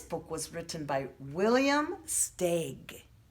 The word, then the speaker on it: Steig: votes other books that we read this book was written by William Steig stake is how you pronounce his last name it's a little bit